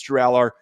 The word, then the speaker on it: Drew Allar: I believe that's the pronunciation from other people that I've heard. I believe it's Drew Allard. Some people in the comments tried to point out I'm saying it wrong.